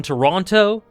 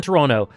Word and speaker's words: Toronto: Portugal, Croatia, thriller in Toronto. Why'd I pronounce the T? Thriller in Toronto.